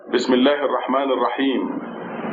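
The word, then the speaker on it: بِسْمِ اللَّهِ الرَّحْمَٰنِ الرَّحِيمِ: So the whole thing pronounces Bismillahi Ar-Rahmani Ar-Rahimi. But if you stop, you don't have to say me. Then you put a sukoon on top of this letter and becomes Bismillahi Ar-Rahman Ar-Rahim. This is the first verse.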